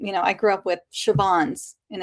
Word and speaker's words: Siobhan: I grew up with Siobhan's, and it's Siobhan.